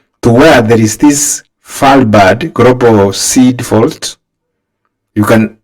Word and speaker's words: Svalbard: It is called Falbad. The word starts with an S but the S is silent.